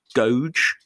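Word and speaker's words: Goge: pronounce this it's about g-o-g-e i think it's gauge gauge van dyer who was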